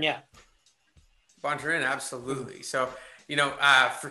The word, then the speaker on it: Bontorin: Bontorin, yeah. Bontorin, absolutely.